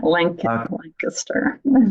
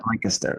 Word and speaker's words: Lancaster: Lancaster. Okay. Yeah. So I say it right. You do. Lancaster.